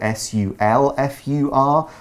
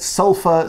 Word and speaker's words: sulfur: sometimes see this word s-u-l-f-u-r and you might see it s-u-l-p-h-u-r that's more common in the UK for sure but sulfur sulfur it's spelled it's spelled differently it's pronounced the same way it's a chemical element